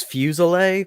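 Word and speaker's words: Fuselier: is it agree no just my last name is fuse oleh but it's spelled f us e li ER as a French last name that's French yeah well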